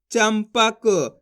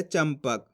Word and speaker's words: चंपक: चाम अनुस्वार की मात्रा चम पा क, तो मिलके बन जाएगा चंपक। इस तरीके से अपन इस शब्द को पढ़ रहे चंपक। आधा माँ का उच्चारण कर रहे हैं।